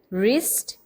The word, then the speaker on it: wrist: Second blocks में अगर देखें wrist, wrath, wrong. In these words the silent letter is W.